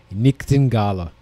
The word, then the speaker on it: nightingale: progression of nightingale the nightingale so the word nightingale was originally pronounced nictin gala in english that was english in